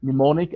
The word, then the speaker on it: mnemonic: aid for memory okay they call it mnemonic and the m is silent okay so um it